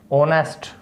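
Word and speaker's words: honest: तो एन कहाँ यूज़ होता है, जैसे ऑनेस्ट, ठीक है, ऑनेस्ट, एच साइलेंट रहता है।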